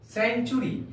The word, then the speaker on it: century: CENTURY, सेंचुरी। प्यारे बच्चों, सी के बाद यहां पर ई है, इसलिए उसका उच्चारण 100 के समान हुआ है।